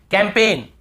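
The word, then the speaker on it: campaign: कैंपेन, कैंपेन, कैंपेन, यहां पर भी जी साइलेंट है, कैंपेन।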